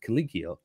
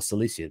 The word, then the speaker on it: Cilicia: annexes the province of Caligia or Cilicia, depending how you want to pronounce it, is actually Gnaeus Pompeius.